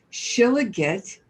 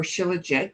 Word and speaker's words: shilajit: you where to get shila get or shilajit depending upon how you say it is a tar-like substance